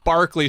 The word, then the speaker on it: Berkeley: I was like, I was over in Berkeley Square, and they're like, It's Barclay Square, you moron.